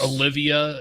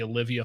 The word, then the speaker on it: Oliva: Although this is one of those cigars, probably the most common mispronounced. Like it is. Olivia is the common one, or like this one in particular, the Oliva V.